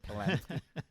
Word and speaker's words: Polanski: Polanski.